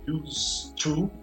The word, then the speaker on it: used to: Então é assim, resumidamente, used to, ele é a mais pronúncia used to, S-U-T, não pronuncia o D, para falar sobre um hábito no passado que faz referência implícita, não está expressamente escrito, ao presente.